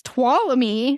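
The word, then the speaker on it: Tuolumne: apparently it's tallamy you don't even say the N that like if you look at the word m you would not guess twam me yeah so anyway I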